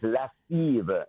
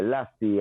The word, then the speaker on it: Lassive: You know, my right name is Lassive, Lassive, Lassive. Yeah. But you have some people, you know, them want to give themselves no trouble for pronounce Lassive. Them just say Lassie and Lassie, you know?